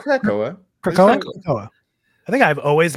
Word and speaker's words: Krakoa: So Krakoa? Caracoa. Caracoa. No, it's Krakoa.